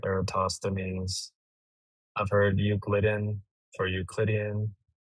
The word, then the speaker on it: Eratosthenes: But it's along the lines of Erasthenes for Eratosthenes.